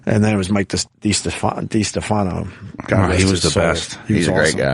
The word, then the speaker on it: DiStefano: It is DiStefano, right? Yes, it is. Because I fucked that up for a long time. And then it was Mike DiStefano.